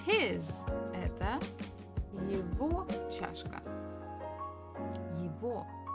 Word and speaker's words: его: Это его чашка. Его. So we write g, but we actually pronounce as v. Just it's a little bit easier to pronounce.